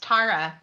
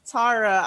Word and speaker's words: Tara: thank you yeah and my name is actually pronounced tara i'm so sorry that oh gosh tara i should have asked